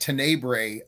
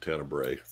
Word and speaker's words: Tenebrae: know oh God yep I've been pronouncing it to neighbor um all my life and I guess that's wrong but what do I know I don't know I'm just going by the the you know the woman on the commentary was saying tenebrae uh she knows more